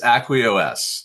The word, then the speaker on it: AcquiOS: It's Aquos.